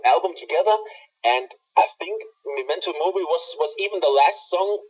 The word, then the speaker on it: Memento Mori: on this, Memento, how was the other word pronounced? Memento Mori. Okay, Memento Mori.